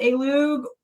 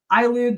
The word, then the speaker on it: Ailoog: But It's basically Gulia backwards. So you can call it Alug, which people joke around like AI, Lug, or whatever, or Ilug, people have pronounced it, but basically it's just Gulia backwards.